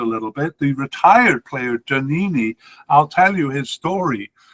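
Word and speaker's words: Djaniny: uh was janini uh that is janini spelled with a d by the way in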